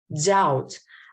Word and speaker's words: doubt: Bomb, doubt. I didn't pronounce the B in here. You heard.